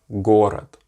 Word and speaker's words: город: But the great thing about this is that it is the English equivalent as far as pronunciation concerned as the G in good. So if you can say good, you can say the Russian G as in город, город, which means city, город.